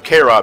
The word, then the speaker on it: carob: The first thing we're gonna do is we're gonna get some K-Rob nuts. K-Rob. K-Rob. Oh, that's how I pronounce them.